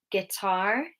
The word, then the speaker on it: guitar: So some letters have a silent U, like guitar, guess, tongue. Okay, so U can be silent.